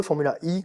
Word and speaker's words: Formula E: monde donc de de Formula e formula i comme les prononcent les Anglais pour le côté électrique